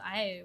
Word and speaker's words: Aeru: It's pronounced Airu.